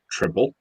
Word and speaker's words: Tripel: doing a beer that actually has three different pronunciations it's either a triple rappel or a trifle I've heard it called